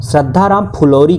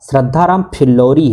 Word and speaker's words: श्रद्धाराम फिल्लौरी: कई सारे मित्र हमारे वे इसका गलत उच्चारण करते हैं, श्रद्धाराम फुलौरी कहते हैं। कई ने तो ऑप्शन में कमेंट करके लिखा भी है, जबकि यह सही है कि इनका नाम क्या था? श्रद्धाराम फिल्लौरी है, ये श्रद्धाराम फुलौरी नहीं है।